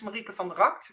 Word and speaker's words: Marieke van de Rakt: So my name is Marieke van der Rakt, which is Dutch. That's why I pronounce it slightly different, but I thought you did a really good job, Amber.